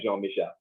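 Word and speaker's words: Jean-Michel: I pronounced it right? Yeah, Jean Michel.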